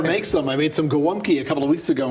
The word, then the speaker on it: Gołąbki: I made some gołąbki a couple of weeks ago and gave some to our producer there.